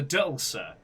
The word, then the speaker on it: DLC: We are returning for the Dulcer, which is how you correctly pronounce DLC, which is 3 new cases.